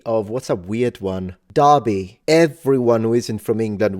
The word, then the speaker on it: Derby: it's like you will say Derby but it's Derby so like why don't you spell it with an a then siren sester stays